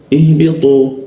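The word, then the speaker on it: اهْبِطُوا: Nah, huruf tu itu ada di belakang gigi, ya. Tu karena agak di lengkungan lidahnya sehingga aliran udara agak terganggu, jadi dibacanya tu, ya, tu, ihbitu, ya, ihbitu.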